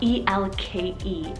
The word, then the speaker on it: Elke: Next is the name Elke, spelled E-L-K-E, Elke. I actually asked her for the pronunciation for this one because I wasn't too sure and I wanted to get it right.